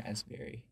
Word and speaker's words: raspberry: as the p in raspberry i feel as useful as the pee and raspberry you are worth more than a silent non unpronounced you know the p